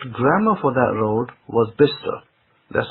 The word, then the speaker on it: Bicester: guess the correct grammar for that road was Bister. That's how most people pronounce it, because Bister is a small town, near kind of Oxford side, and most people will pronounce it as Bister, not as Bicester.